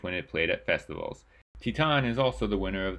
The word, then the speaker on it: Titane: Titane, and yes I did look up how to pronounce that just now, is from writer and